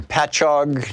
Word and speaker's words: Patchogue: Jim in Patchogue, New York. Correct me if I'm wrong in the pronunciation there, Jim.